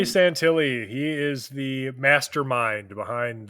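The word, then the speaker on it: Santilli: Um, so Ray, is it Santilly? Right. Ray Santilly is how you say? Yeah, Ray Santilly.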